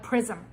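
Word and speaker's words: XRISM: We pronounce it like prism with an X.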